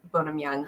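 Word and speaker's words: Bonam-Young: by bonum young I think it's bonum is how you bonum young is how you say it read that one she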